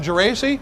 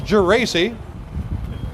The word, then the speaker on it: Geraci: The State Fire Marshal himself, Geraci, yes, I can pronounce it correctly. It is Geraci.